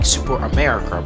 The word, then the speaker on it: Superamerica: Now, if you look at the name, it might sound like Superamerica, but since the car is Italian, it's going to pronounce and sound different. So it's pronounced Ferrari Superamerica.